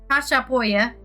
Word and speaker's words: Chachapoya: Chachapoya, literally that's how you say it.